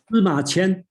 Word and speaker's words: Sima Qian: Sima Qian.